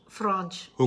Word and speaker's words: Franschhoek: because some of us say it incorrectly, yeah, I was saying Franschhoek. as in France, Yeah. because it's the French and the France, but it's not Franschhoek, it's Franch. Franch, Hook.